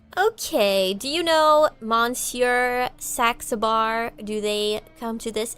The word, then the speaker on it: Saxabar: Taxable.